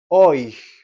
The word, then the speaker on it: euch: Segunda persona del plural, ia era el nominativo, euch en acusativo. Fíjense la pronunciación. O I. El diptongo, es decir, la unión de las dos vocales E, U, suena como una OI, ¿sí?